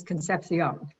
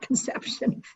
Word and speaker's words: Concepcion: scheindlin i'm schendland secondly concepcion is concepcion it is not conception that's a different process we don't want to talk about conception today but we can talk about concepcion i want to start